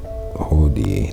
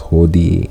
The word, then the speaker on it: hodie: You can remember that because it sounds like today with the 2 syllabi, 2 syllables, hodie and today. We got 3 syllables in hodie, but it still give you that sound that similar to we still say today.